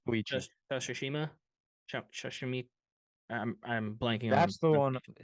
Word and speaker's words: Koichi: Koichi, is that how we are pronouncing it? Koichi? Koichi It's Koichi.